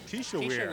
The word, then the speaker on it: Kisha: And number 51, is that pronounced Kesha? Kisha.